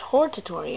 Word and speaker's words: hortatory: So it's hortatory. I was pronouncing it wrong.